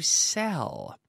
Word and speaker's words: sell: Yesterday, we were talking about the verb to sell.